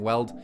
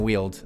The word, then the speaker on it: Weald: So Slumbering Weald, Slumbering Weld, it is Slumbering Weald.